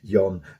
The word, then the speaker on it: Jon: I think obviously in Sweden we don't pronounce the J, so I think it's Jon Svensson on the keys and backing vocals.